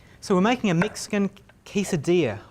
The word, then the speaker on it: quesadilla: So we're making a Mexican quesadilla. I keep wanting to call it a quesadilla because that's how it's spelled, but quesadilla is the way to say it properly.